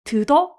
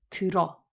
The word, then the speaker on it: 들어: 드더? 이렇게 발음하나요? 듣 플러스 은이 이건 어떻게 해요? 드드니? 이렇게 발음하나? 아니에요. 듣 플러스 어는 들어.